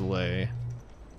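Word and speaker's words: Lei: I keep wanting to say Lee, but I'm pretty damn sure it's pronounced lay.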